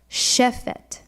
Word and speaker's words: shefet: So when you see the transliteration shefet, you want to remember to put the accent on the first syllable, shefet.